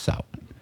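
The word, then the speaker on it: Samhain: s a m ha a i n but pronounced Sal uh the the Kelts who lived 2,000 years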